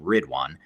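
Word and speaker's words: Ridwaan: on our global team that has the name rid one which is spelled r-i-d-w-a-a-n so if you just google rid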